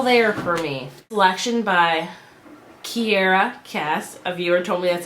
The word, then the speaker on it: Kiera Cass: just wasn't all there for me selection by Kiera Cass a viewer told me that's how you pronounce it so thank you um and I